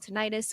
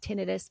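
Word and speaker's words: tinnitus: I'm looking it up it's called tenius or some people pronounce it tenus but I like ttis better anyways so I'm hearing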